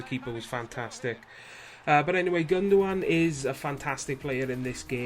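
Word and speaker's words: Gündoğan: Our right centre attacking midfielder, we have got, right, hang on guys, Ilkay Gundogan, or Gundogan. If I go by the pronunciation of the commentators, it's Gundogan, but, you know, take from it what you will.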